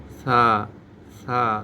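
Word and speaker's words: ث: এই হরফটার নাম ছা হরফটা জিহ্বার আগা দাঁতের সামনে দাঁতের আগার সঙ্গে লাগাইতে হবে। উচ্চারণ করতে হবেছা। জিহ্বা বাইরে বের করে ছা নরম করে বলতে হবে।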